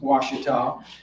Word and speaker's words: Ouachita: the east coast writers number one they couldn't pronounce washita and number two they couldn't spell it unless